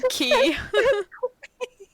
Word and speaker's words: quay: key pronoun it yeah it's pronounced key like why Haven they